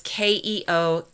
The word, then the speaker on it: Keokuk: And along the great river towns in places like Burlington and Davenport and Keokuk, which I know I'm pronouncing wrong, and Sioux City. That town is Keokuk.